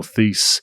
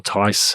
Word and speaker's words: Theis: Daniel Theis, or Tice, however you want to pronounce it, agrees to a 4-year, $36 million contract with the Houston Rockets.